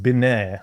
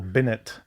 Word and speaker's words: Binet: Alfred Binet, or Binet, Binet, yeah. depending on your pronunciation.